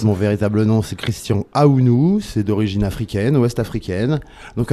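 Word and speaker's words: Ahounou: Bonsoir, en fait mon véritable nom c'est Christian Aounou, c'est d'origine africaine, ouest-africaine. Donc Aounou ça s'écrit A-H-O-U-N-O-U.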